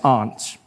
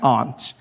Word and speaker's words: aunt: For instance, I pronounce the opposites of uncle as aunt. I say my aunt. Out here, you say my aunt, which to me is an insect.